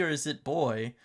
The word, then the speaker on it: Buoy: Is it Buoy or is it Buoy? Because I think the technically correct pronunciation would be like boy, almost like Flavor Flav, right? Boy, hey boy, yeah boy.